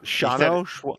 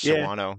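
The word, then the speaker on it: Shawano: You know Shauno you said it like you said it how the GPS says it. GPS says Shuano but it's Yeah, it's there's like no A A is silent.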